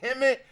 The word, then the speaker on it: Hemet: The Scientology headquarters is in Hemet, which rhymes with Kemet, which is the IE.